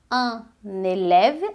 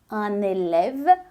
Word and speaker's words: un élève: dizer um aluno fica un élève, aí a gente une aí na pronúncia, un élève, uma aluna é une élève, une élève, un élève, une élève, un élève, une élève.